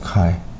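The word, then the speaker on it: χ: 시간 미분 그리고 그레디언트 카이 이렇게 됩니다. 자, 요거 X라고 읽지 않고 이제 카이라고 읽어요.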